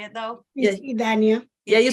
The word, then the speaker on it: Idania: Ruth, and I'm sorry if I'm ruining your name, Idania. If I'm pronouncing it wrong, I'm really, really sorry. Could you just tell me how to say it though? Yes. Idania.